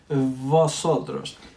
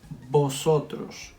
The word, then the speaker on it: vosotros: with vosotros you know the v in spanish we don't pronounce it like in english we pronounce it the same as the b so we don't say here vosotros you need to sound